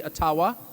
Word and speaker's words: Ottawa: taken from you no matter who is in Ottawa or as we say atawa which by the way is the correct pronunciation according to my friends in the ajba